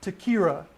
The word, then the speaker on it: Ta-Kyrah: the suspect is navarro n-a-v-a-r-r-o kathy c-a-t-h-e-y 11 27 of 79 is his birthday one last time please pronounce the the the young lady's name takira tequila she's 13 years old last seen wearing